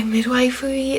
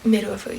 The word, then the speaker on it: midwifery: womb in like my midwifery things. Midwifery, sorry, I always pronounce it wrong. I think midwifery sounds better, but it's midwifery.